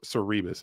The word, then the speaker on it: Cerberus: I've been pronouncing it wrong. It's actually not. It's Cerberus.